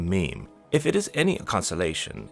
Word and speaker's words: meme: Mimme comes from a suitable Greek root, but I want a mono syllable that sounds a bit like gene. I hope my classist friends will forgive me if I abbreviate mimme to meme.